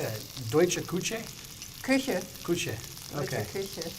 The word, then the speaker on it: Küche: Küche.